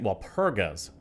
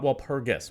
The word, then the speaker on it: Walpurga: Walpurga's Abbey. Not Walpurgis, Walpurgas.